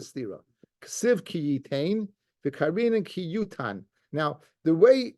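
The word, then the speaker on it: כי יותן: So even though it's written Kiyitain, the pronunciation is Kiyutan.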